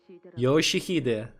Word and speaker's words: Yoshihide: No, that's not how you read those letters. Yoshihide, that's how you say it.